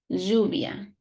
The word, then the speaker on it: lluvia: But if it is double L, it's like j, lluvia.